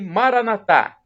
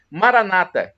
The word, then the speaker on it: Maranatha: para o seu bem o Maranatha do dialeto de Jesus o aramaico com a tônica na última sílaba como dizemos nós católicos ou Maranata com a tônica da penúltima sílaba como dizem os protestantes os evangélicos nossos irmãos